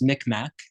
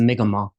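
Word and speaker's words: Mi'kmaq: told me one year that um it's not pronounced mcmack which is the angiz of the word it's the migma um but I didn't know a lot but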